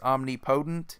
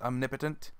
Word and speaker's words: omnipotent: just laugh whenever I hear the most common mispronunciation is omnipotent so they kind of hyphenate the word there and they make it like omnipotent when in reality it's just I'm nipa Tintin for some people it's either that they just